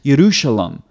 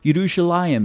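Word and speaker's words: ירושלים: So the first consonant for Yah here, or for Jerusalem, is, the way it's translated in English, is a yod. Okay, it's Yerushalayim, or Yerushalayim is the other form that you'll see in Hebrew.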